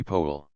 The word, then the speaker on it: Powell: Banks Marsh Banks and Powell should always be po the pronunciation of proper